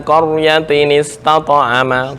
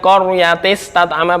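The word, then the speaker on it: قرية استطعما: Bukan qaryatis tat'ama, bukan. Qaryatin istata'ama. Tis salah. Salah. Nah, qaryatis tat'ama. Salah, jali. Kesalahan jali. Ya? Nggak dibantu apa? Oh, salah, masuk jali. Karena ada huruf yang terbuang.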